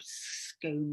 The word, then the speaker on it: scone: a little unnerved and obviously it rhymes scone with it's like scone with bone and um and it